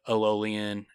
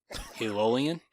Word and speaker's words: Eolian: Eolian? Eolian. You're saying it like ELOL, but it's EOL.